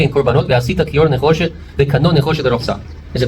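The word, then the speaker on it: נחושת: Nechoshet is how you say copper in Hebrew.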